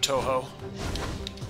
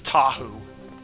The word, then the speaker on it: Touhou: yes i've heard about touhou which i always want to pronounce as tahu but i know that's a bionicle so a positive point